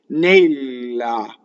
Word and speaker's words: Nella: So in this word, you have to go from an a to an a. Now watch. Nella, a, right? Not nella with the lazy sliding jaw.